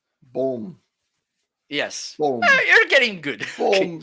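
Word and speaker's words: bom: question a survival mic we don't finish our words with n okay if it's to sound like that it's with m okay uh this okay in spanish it's different but it's b o m which means good boom means good let's say it again say we say we it's it's a little bit more boom boom yes you're getting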